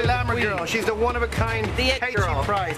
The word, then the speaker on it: KT Price: She's the one-of-a-kind KT Price. How you pronounce the name? KT Price, not Katie. KT Price.